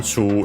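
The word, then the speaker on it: チュー: This one, Chu, is accented on the first syllable as usual.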